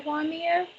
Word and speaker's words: Vimeo: Video sharing, best is for YouTube, TikTok, Periscope, and I can't pronounce it, Vimeo. Say Vimeo.